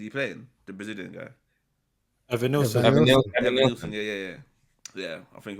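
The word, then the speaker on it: Evanilson: Evan Nilsson.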